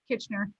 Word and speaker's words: Kitchener: Kitchener? Yes, Kitchener.